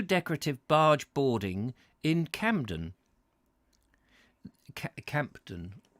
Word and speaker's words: Campden: Campden, as opposed to Camden.